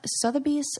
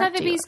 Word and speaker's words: Sotheby's: So, how do you say that? Sotheby's? Yeah. Sotheby's auction.